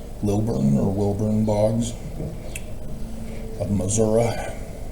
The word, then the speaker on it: Missouri: or Wilburn Bogs of Missouri. Got to pronounce it Missouri. It's the show me state. Don't show them the spelling. It's Missouri. Don't show the I it's a and so yes, the